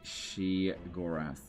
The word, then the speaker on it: Sheogorath: If Legend was an Elder Scrolls Daedric Prince, he'd be Sheogorath.